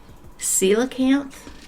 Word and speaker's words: coelacanth: Um Now, the next one, the way it's spelled doesn't is a way different than what is how it's pronounced. So, it's called coelacanth.